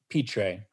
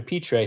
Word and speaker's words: Pitre: the name of Brant Pitre. And I'm not sure that's exactly how you pronounce his last name. It's P-I-T-R-E. And I looked up online and it suggested Pitre as a pronunciation, so I hope I'm not mistaken.